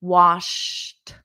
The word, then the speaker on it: washed: to wash but then in the Ed the past simple it's a very soft T was washed washed everybody repeat that